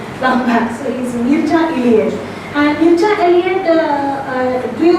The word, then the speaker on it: Mircea: Mircea is pronounced as Mircea in Romania. One Romanian student corrected my pronunciation long back. So he's Mircea Eliade.